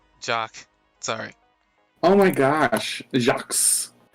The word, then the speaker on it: Jacques: sorry oh my gosh jacques how many does your name have an s why is it never mind my name has the silent q-u-e-s basically all the pronunciation is j-a-c that was a mispronunciation